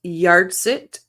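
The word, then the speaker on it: yahrzeit: to butcher it okay I believe it's pronounced yit Memorial Cooper candle it's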